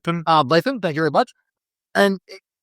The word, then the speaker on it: Ardlethan: Let me get that pronunciation. Ardlethan, thank you very much.